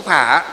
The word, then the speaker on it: phả: Chữ phổ với chữ phả đó là cái phiên âm thôi. Miền Bắc thì chúng ta đọc là phả. Miền Nam thì đọc là gì? Là phổ.